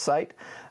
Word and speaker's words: Scite: I think it's pronounced Cite, but I'm not certain.